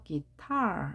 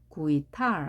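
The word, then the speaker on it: guitar: 단어는 기타라고 하는 단어인데요 기타 강세가 뒤에 있습니다 여기에 있습니다 따라서 기타 이렇게요이 단어를 처음 봤을 때 구이탈 하면 안 되겠죠 또는 구이탈 이게 아니겠죠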